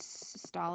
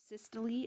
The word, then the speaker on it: systole: From now on, whenever we talk about contraction, we're going to use the word systole or systole. It's been pronounced both ways.